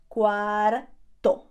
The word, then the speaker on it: cuarto: Be very careful because the word cuarto, which also means bedroom, by the way, cuarto, sounds very, very similar to the number 4. Cuatro. So how would you say it is 4:15? Son las 4:15. Son las 4:15. Don't get it mixed up, okay? pronounce that R, cuarto.